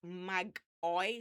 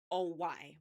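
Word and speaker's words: μάγοι: So it's actually, the Greek word is pronounced magoi, so Magoy, magoi.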